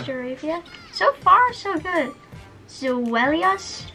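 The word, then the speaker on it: Zweilous: Pronounced Zvilus. Zvi. Yes, because the it goes from one-headed dragon to a two-headed dragon to a three. So it's Dino, Ein in German. Zvilus, Zvi is two in German.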